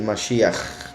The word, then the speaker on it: Mashiach: En inglés, por ejemplo, se pondría con CH, porque es Mashiach, con un sonido de garganta, gutural.